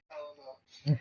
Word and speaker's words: Eleanor: The correct pronunciation would be Eleanor.